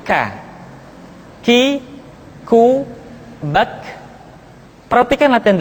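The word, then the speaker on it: ك: Selanjutnya huruf K diucapkan dengan mengangkat pangkal lidah kita ke posisi di depan huruf Qaf. K diucapkan dengan mengalirkan nafas kita. K. Ki, ku, bak. Terdengar ada suara yang atau nafas yang mengalir.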